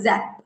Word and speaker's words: XAPP: Yeah, so we have an app called Zap. It's spelled XAPP, where you can find it in the App Store.